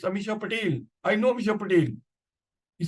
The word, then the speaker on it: Amisha Patel: heroine at that time so I thought he's mispronouncing a name I said no no it's not Amisha bakan it's Amisha Patel I know Amisha pel